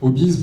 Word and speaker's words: Obiz: Alors, Obis, pour ceux qui ne connaissent pas, ça s'écrit OBIZ, mais ça fait référence au Obis, H-O-B-I-E-S.